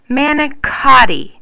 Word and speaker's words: manicotti: Manicotti. See? That CO makes a K sound.